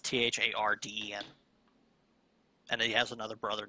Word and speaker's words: Tharden: Yeah, it should be Tharden. I mispronounced it the first Tharden. time. Yeah, it's Tharden.